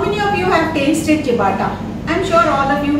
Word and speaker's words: ciabatta: The first product is going to be a bread which is called the chapata or siapata. It's pronounced as chapata.